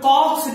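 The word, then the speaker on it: Koch: इसको कॉमनली एक और नाम से जानते हैं, इसका नाम है कॉक्स डिजीज। क्या बोलते हैं? COX disease. कॉक का स्पेलिंग के ओ सी एच होगा।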